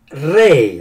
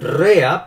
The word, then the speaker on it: Rea: Adventista pero el pastor Walter Rey así se pronuncia en español yo creo que lo pronunciaría rea porque se escribe W r e a Walter Rey era mucho